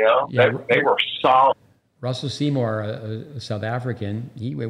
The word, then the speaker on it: Russell Seymour: Russell Seymour.